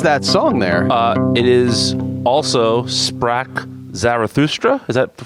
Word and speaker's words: Also sprach Zarathustra: It is also Sprach Zarathustra. Is that the correct pronunciation?